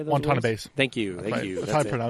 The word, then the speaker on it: Watanabe: And let's slam that down and put some Watanabes on there, Yeah, or Wanatabes, or how do you say those words? Watanabes.